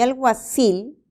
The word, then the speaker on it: alguacil: Y alguacil es aguda.